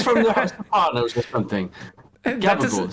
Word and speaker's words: gabagool: Gabagool, Sicilian pronunciation for the spicy deli ham capicola.